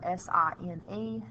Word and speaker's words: sine: of all the word sine is spelled s-i-n-e the abbreviation though on a calculator is s i n please do not pronounce it sin it is sum sine